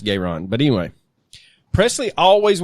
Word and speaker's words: Garon: twin brother Jesse gon g a r o n gon yeah Jessie gayron Presley or garon I guess they were from Mississippi so I'm pretty sure it's gayron but anyway anyway Presley